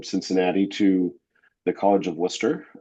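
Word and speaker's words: Wooster: to the College of Worcester, uh, spelled like it sounds, wer.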